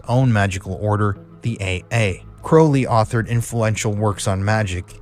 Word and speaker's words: Crowley: chronicling his history, and he pronounced it Crowley. He said that Crowley is the correct pronunciation. I know people are going to be saying, oh, it's Crowley. But let me tell you, from studying this at university, I was told from somebody...